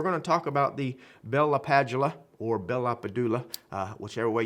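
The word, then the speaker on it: Bell–LaPadula: I think it's actually Bella Padula. I used to work with a gentleman, brilliant guy, that actually met or listened to him speak, and that's how he said he pronounced his own name.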